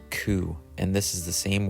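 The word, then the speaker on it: 九: the number nine is also unlucky it is pronounced cou and this is the same word for suffering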